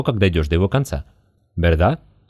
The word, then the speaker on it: verdad: Верда? Кстати, в этом слове, если оно идет после паузы, первый звук «б».